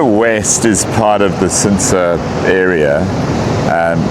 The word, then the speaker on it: Chintsa: So Sensa West is part of the Sensa area. Um it's officially spelled CH I N T SA. So, Flinsa is the closer pronunciation with a click and it is probably